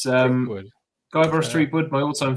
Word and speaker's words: Threepwood: It's Threepwood.